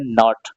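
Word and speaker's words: knot: ओटी के एन ओटी के एन यानी के के बाद एन आ रहा तो यहां पर भी के साइलेंट हो जाएगा तो इसको पढ़ेंगे नॉट क्या पढ़ेंगे नोट पढ़ेंगे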